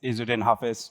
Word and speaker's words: Izzudin Hafiz: Like, last tried to pronounce it, it's Izzudin Hafiz, but you can call me Hafiz, right?